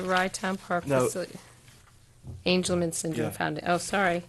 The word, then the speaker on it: Angelman: And now the request from, is this Angel Man? Is that how it's pronounced?